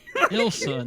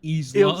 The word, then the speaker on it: Ilsa: Ilsa, not Isla.